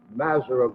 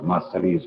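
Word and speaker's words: Masseria: These would be in the other group, the Mazara group. Well, you always have to call it Massari's group.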